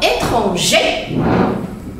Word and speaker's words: étranger: Exemple, un homme étranger. Attention, le R, on ne le prononce pas. Étranger.